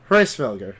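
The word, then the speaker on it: Hræsvelgr: Hraesvelgr.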